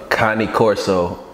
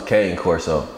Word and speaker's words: Cane Corso: like I've never seen like a Connie Corso and I ain't gonna lie I thought it was cane corso how many of y'all